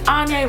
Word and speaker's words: Anya: If you're new to my channel, my name is Anya, rhymes with Kanye.